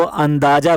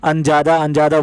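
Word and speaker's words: अंदाज़ा: अब वो अंदाजा को अंजादा बोल रही हैं, जबकि इसको खुद का प्रोनाउंसिएशन इसका बहुत ही ज़्यादा ख़राब है।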